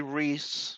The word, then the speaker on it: Ruiz: Ruiz. Oh, Ruiz. Well, Reese would Ruiz or Reese. Okay. Down here in Texas, it would be Reese.